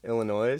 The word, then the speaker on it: Illinois: that dumb but no ill annoy just like silent it's like subtle when people in only do it it's like illinois' it's like the up barely